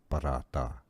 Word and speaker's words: paratha: It says paratha paratha paratha.